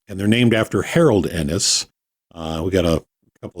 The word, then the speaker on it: Ennes: and yes it's pronounced Enis just like the two letters um and they're named after Harold Enis uh we got a